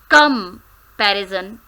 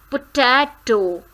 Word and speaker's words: comparison: Comparison. We do comparison. Comparison. So, there are 4 syllables.